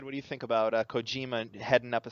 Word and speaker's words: Kojima: Anyway, there was an article posted today that, how do you pronounce his name? I say Kojomi, but... Kojima? Kojima, sorry.